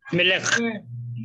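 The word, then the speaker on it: מֶלֶךְ: So, with the help of the vowel points, we use a sigol for the Mem and a sigol for the Lamed and a shva for the Kaf. So, how will you pronounce this? Me. Melech. Me. Le. Me. Le. Me. Le. Melech. Melech.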